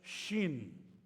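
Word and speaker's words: ש: ahí está color rojo esa letra se pronuncia Shin de shalom es la letra Shin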